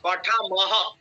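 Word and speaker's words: পঠামঃ: পঠামহ। আপনি বিসর্গর উচ্চারণটাকে অবজ্ঞা করছেন কেন? বিসর্গর অনেক মূল্য আছে।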